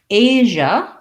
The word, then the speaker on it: Asia: asia and africa so asia this letter s says this sound i talk about this